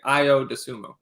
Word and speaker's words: Ayo Dosunmu: told me off and gave me the right pronunciation. So I've been saying Ayo Dosunmu.